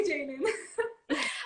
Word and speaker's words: JXDN: It's DTA by Jaden. It's spelled JXDN.